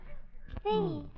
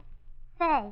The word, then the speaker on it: Santa Fe: You see, the A is pronounced like an E on account of that little French aperitif on top. What we United States citizens call an apostrophe. Fee. Fay.